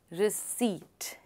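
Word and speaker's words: receipt: रिसीट. यानी पी is silent.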